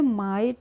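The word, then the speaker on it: might: रहा है फ्रेंड्स हमारा आईजीएसटी का प्रोनाउंस एशन क्या होगा आइट होगा तो एमआई जीएसटी को भी हम क्या बोलेंगे माइट क्या बोलेंगे एमआई जीएसटी को हम बोलेंगे माइट इसको मेघ हैट नहीं बोलिएगा इसको बोलिएगा माइट अब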